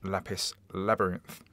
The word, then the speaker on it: Lapis x Labyrinth: America and that is lapis labyrinth and there is a rogue X in the middle of lapis labyrinth but I'm assured it is pronounced lapis labyrinth now this is like